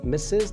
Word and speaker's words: Mrs: moving to the third one mrs morris is pronounced is misses the full form misses and it's a title